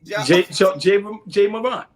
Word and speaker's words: Ja Morant: Jay Morant.